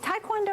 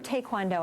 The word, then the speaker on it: Taekwondo: wanted to try Taekwondo is it Taekwondo or Taekwondo I hear a lot of different ways to say that both pronunciations are correct okay just to give